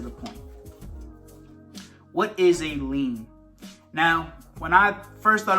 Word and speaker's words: lien: So lien is spelled L-I-E-N. When you think of lien, and it's spelled L-I-E-N, it looks like lie, L-I-E. And when I think about that, I say, okay, lie-N.